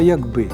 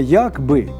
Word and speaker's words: якби: може завдяки їм запам'ятаємо треба не якщо б а якби І до того ж не якби з наголосом на першому складі у значенні какби що